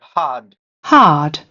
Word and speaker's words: hard: Hard hard. Hard that is the correct pronunciation.